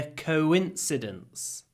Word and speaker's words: coincidence: It can't be a coincidence. Совпадение is a coincidence. Listen carefully. Coincidence. There is a w in coincidence. It's coincidence. Coincidence. Don't miss the w.